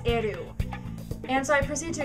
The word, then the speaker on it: L: saying you didn't pronounce l right you didn't pronounce ryuk right you didn't pronounce Yagami right um you know and so she goes you know L it's not L it's eru and so I proceed